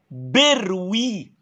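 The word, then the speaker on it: bruit: نفس الكلام اسمع صوت اسمه بروي، التي سايلنت ما بتتنطقش.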